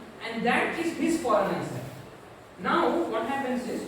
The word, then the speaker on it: Voronoi: This is pronounced Voronoi.